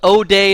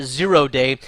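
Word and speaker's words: 0day: there's also something called o day and this is kind of the phonetic of it o day is sometimes how you pronounce it or we'll sometimes say zero day the literal spelling here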